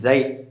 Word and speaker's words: xi: Simply its pronunciation is xi.